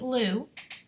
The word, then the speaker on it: Lugh: This one, I chose to work with the Solar Deity Lugh, and it's spelled L-U-G-H.